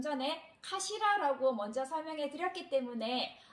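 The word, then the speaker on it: かしら: 자, 이 카시라라고 발음을 하는데 이 카시라는 머리란 뜻도 있고요.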